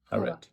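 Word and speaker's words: حواء: Hawa.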